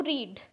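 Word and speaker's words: read: जैसे हम एक एग्जांपल ले तो रीड, रीड एक बेस फॉर्म है, इसका past simple and past participle form होगा रेड, रेड। ये प्रोनाउंसिटिकली थोड़ा डिफरेंस है, पर इसका स्पेलिंग ठीक सेम ही है बेस फॉर्म के तरह।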